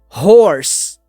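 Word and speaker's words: hoarse: que ela significa Cavalo a pronúncia é a mesma a única coisa que muda é a escrita que uma eu tenho ar e a outra eu não tenho então já fica essa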